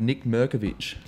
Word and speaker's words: Nik Mirkovic: name is Josh way today I'm here with Nick movich hey Josh how are you I said it